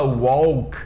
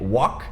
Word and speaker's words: walk: Tem o L nas duas, só que a gente não fala walk e nem talk. É walk sem L, talk sem L.